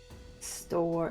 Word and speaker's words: Stor: store, like the store you shop in with the E. No E, STOR.